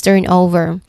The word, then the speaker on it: turnover: That's turn over the first syllable turn.